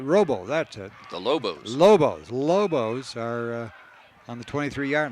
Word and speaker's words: Lobos: And the Robles are set back. Did I pronounce that right? Robo, that's it. The Lobos.